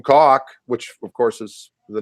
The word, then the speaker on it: Koch: same last name and she pronounced it which is what it means in German anyway but I was like no that's not the way my grandpa said it but if net in